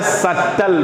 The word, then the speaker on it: subtle: Word हो जाता है सटल। वर्ड क्या है? SUBTLE, सटल। आपने कहा सर सटल पार्टिकल्स, बहुत छोटे, SUBTLE, सटल में बी साइलेंट है भैया, SUBTLE, इट वाज